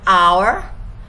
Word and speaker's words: hour: matters example here an hour an hour as you can see H H here is silent h is silent and it's pronounced an